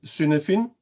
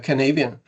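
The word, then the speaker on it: Cynefin: in in Danish if being a Dane I would call this as suin framework but this is not a Danish word this is a Welsh a wilsh uh uh word and it's pronounced uh Canadian and uh this gentleman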